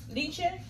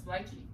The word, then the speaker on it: lychee: I don't think it's called leche. Leche? I think it's lychee.